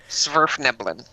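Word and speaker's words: Svirfneblin: like Smurf with a V. Yes. Smurf Neblin.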